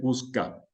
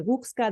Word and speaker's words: Guczka: la verdad es que ya he escuchado tantas pronunciaciones diferentes que he pasado del Guxka, del Gushka, del Guchka, pero bueno, creo que como tú lo has dicho, está bastante bien.